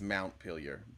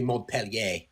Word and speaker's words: Montpellier: We're also wondering why both Jesus and Julie think it's Montpelier. We were also, I think that you guys must be saying it wrong and spelling it wrong because Jesus wouldn't get it wrong. Technically Montpellier, but shut up.